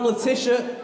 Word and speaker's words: Letitia: honestly one more time latisha remember the name oh my twitcher is at leticia gb and my name's not spelled the way it sounds it's spelled letitia under scott gb yeah